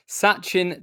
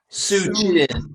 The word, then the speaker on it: Sachin: Sachin Tendulkar has many.